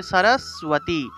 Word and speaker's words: সরস্বতী: এই যে বফলা যুক্ত দন্তস্ব, বফলা থাকলে এটা মূলত সুয় উচ্চারণ হবে। সুয় উচ্চারণ করতে হবে, অর্থাৎ এইভাবে সুয় উচ্চারণ করতে হবে। তাহলে সরস্বতী।